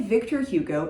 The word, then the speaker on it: Victor Hugo: If you say Victor Hugo in English, I think that that's extremely valid.